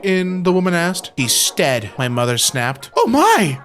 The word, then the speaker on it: Stead: Our surname is Stead, pronounced to rhyme with bed, but much to my family's annoyance, people often call us Steed.